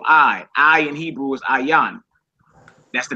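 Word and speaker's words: ע: actually means your i i in Hebrew is aan that's the name of that letter aan I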